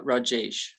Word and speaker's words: Rajesh: Rajesh, is that how you say it? oh, it's Rajesh.